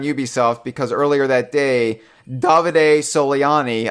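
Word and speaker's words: Davide Soliani: davide solely on e I said it right Mitchell I got it finally got it was David Sivan well it's not oh it's not it it's not as not David salami it's David a solely on e he tweeted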